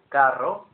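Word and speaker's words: carro: word Caro meaning expensive and then the Spanish word Caro meaning Supermarket trolley and also a Latin American word for a car spelled with double r c a r r o and in that Example The Double R is rolled much more than the single R we have G one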